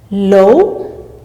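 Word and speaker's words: 楼: Low. Low veut dire building. Le temps se place sur le O et notez bien que OU se lit O mais non OU.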